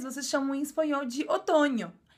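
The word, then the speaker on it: otoño: significa n com tio a mesma pronúncia do NH do Brasil o Outono em português Vocês chamam em espanhol de otono e o n com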